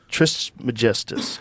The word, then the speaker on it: Trismegistus: Though attributed to the legendary Hellenistic figure Hermes Trismegistus, how do you say it, bro? Trismegistus. Yeah.